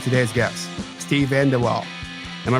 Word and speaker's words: VanDeWalle: people doing fascinating things like today's guests Steve vanderwaal am I pronouncing that right Steve you are Steve vanderwaal that's right he's a Serial entrepreneur and host